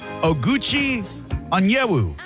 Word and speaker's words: Oguchi Onyewu: I could call him Gooch, but I'm going to go for his given name, and I'm going to say Oguchi Onyewu. That is perfectly pronounced.